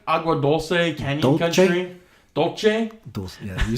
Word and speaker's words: Agua Dulce: Even like Agua Dulce, Canyon Country.